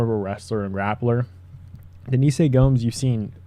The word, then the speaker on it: Denise Gomes: Up the card, we have Eduardo Moura versus Denise Gomes, or yeah, Denise Gomes is how you say it, or at least how Anik says it.